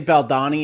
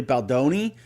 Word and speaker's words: Baldoni: get that pronunciation wrong I've been told by a number of people that have watched my videos that when I say Balon it's really Boni I'm going to do